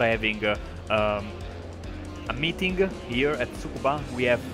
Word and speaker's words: Tsukuba: Yeah, the semi-correct pronunciation is Tsukuba, with the Tsukuba.